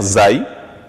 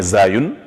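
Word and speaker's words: زاي: La lettre Zay, ou bien Zayun, qui équivaut à la lettre Z par rapport au français.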